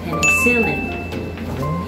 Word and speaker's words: penicillin: people pronounce it it's an antibiotic but your pronunciation is wrong the correct pronunciation is penicillin that is silver but it's silly and it's silly and last number 15.